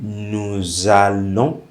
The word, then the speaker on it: nous allons: Okay, that's why I'm making the liaison. I'm saying nous allons.